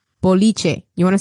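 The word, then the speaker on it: boliche: easy recipe for and a Cuban version called biche you want to spell it out b o l b b o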